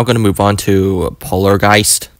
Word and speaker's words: Polargeist: to move on to polargeist I remember pronouncing this as Polar regist because I was just so good at pronouncing things back thing go go